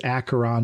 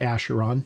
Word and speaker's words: Acheron: It is Acheron and not Acheron.